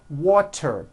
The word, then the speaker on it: water: So if a letter T falls between 2 vowel sounds, which are voiced, so if it falls in the middle of vowels, then the T is pronounced as a D and the whole word is voiced.